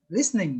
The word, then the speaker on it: listening: Listening, Oh yeah. yeah, listening. The Oh T, yeah, yeah, yeah. the T is silent. Listening.